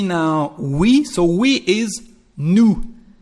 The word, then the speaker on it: nous: So we is nous. There is an S, but you don't pronounce it.